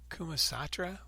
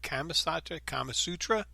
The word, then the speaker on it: Kama Sutra: Yeah, you can see it in the Sanskrit, and I mentioned I had a hard time remembering the Kumasatra. What's it? Kumasatra? Kama Sutra.